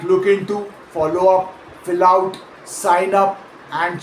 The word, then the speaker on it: follow up: Say follow up out loud and notice that natural American speech stresses up more heavily than follow. Coming out closer to follow up.